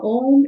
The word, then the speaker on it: om: Otherwise we always say o and then taper into the m part of it.